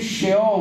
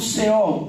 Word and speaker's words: Seol: E algumas pronunciações podem ser Sheol, mas eu trago aqui Seol, o primeiro inferno. O Seol, o inferno que Jesus chama de sepultura antiga.